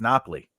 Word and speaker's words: Napoli: Yeah, it's Napoli.